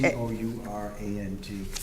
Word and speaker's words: Courant: It should Oh, be it's a- C-O-U-R-A-N-T. Oh, yes, it is. You're right about I'm that. sorry, can you say that again? The Hartford Courant is spelled C-O-U-R-A-N-T. Thank you. Pronounced current, but Yeah, That's right.